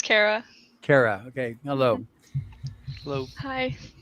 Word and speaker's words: Kara: Is it Karah or Karah, or how do you pronounce it? It's Karah.